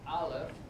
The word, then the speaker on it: Aleph: It's pronounced as Aleph.